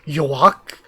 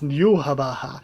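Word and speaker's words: Yhwach: Because I was always like, Yoak? Like, is that his name? That's like Yoak. That's what I always thought, and it's Yuhabaha.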